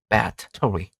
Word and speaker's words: battery: 왜냐? 이것도 이음절입니다. 한번 찾아볼까요? 사전에서 battery battery 나눠져 있는 겁니다. 그래서 이음절로 battery battery 여러분 따라해 보세요.